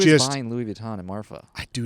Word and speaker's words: Marfa: number of people talk about it, if I'm pronouncing it correctly, I think it's Marfa. Marfa, yeah.